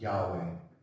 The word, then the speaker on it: Yahweh: So these letters, that's Yod He Vav, which is how you spell the name, is pronounced Yahweh or Jehovah.